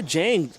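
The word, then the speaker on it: Diagne: And Jane, I said, your name is pronounced, your last name is D-I-A-G-N-E. And she broke it on down to me, Charles, and said that D-I makes the J sound.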